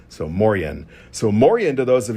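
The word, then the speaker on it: Moien: It is pronounced something like more hyphen yen. So m o r hyphen yeen moren. So moren.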